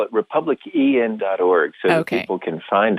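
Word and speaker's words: republicEn: to be with you yeah we call it republic en org okay you can find it on google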